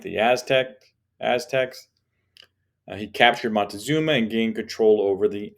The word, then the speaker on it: Montezuma: led by montezuma and we can see montezuma spell it a couple different ways in the book and in readings and such montezuma is how you say it he was the